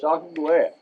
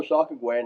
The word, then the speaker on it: Sacagawea: You got it, Sacagawea. Now, you can pronounce that numerous ways.